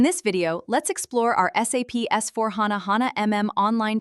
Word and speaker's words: SAP: And always we have to tell SAP. Some people are telling I'm a sub consultant. Sub is not a correct pronunciation. Always we have to tell SAP SAP MM consultant.